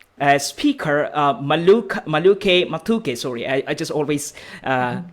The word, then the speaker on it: Maluke: um um um a speaker uh maluk maluke matuke sorry i just always uh kind of difficult with that pronunciation so uh matuke so you are okay and thank you very much everyone and my name is maduke and my screen is showing that my connection